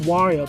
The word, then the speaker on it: Wario: He said it should be pronounced Wario because of the I in the name making an E sound or something like that.